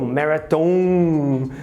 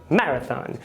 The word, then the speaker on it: marathon: Na palavra marathon, ele se espelha na forma do português de dizer maratona e coloca a sílaba final no tom, marathon, porque no português seria mais ou menos assim. E o preconizado, recorrente no inglês, é que a sílaba primeira seja a tônica, marathon, ok?